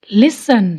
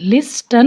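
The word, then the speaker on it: listen: लिसन, लिस्टन नहीं, लिसन।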